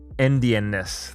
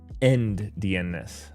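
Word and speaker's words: endianness: um and I I believe people call this indianness like e n d uh end dness um it's a little difficult to pronounce um so anyways this is basically the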